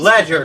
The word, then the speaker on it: Legerdomain: Please Ledger, that's how you say it.